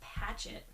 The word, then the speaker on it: Patchett: See, I was saying it wrong. Not Pratchett, but Patchett.